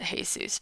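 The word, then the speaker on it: Jesús: So, I was extra excited this week though because my the Instacart delivery person's name was yes, I know it's pronounced Jesus, but I was just very excited because Jesus delivered my items this week.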